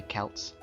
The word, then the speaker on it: Celts: However, English academics still preferred to use the hard C to say Celts.